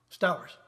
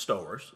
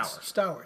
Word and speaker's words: Stowers: like your name pronounced Stowers missed our so I was right okay that's stores no now it's not like the town nope yeah Stowers okay right over right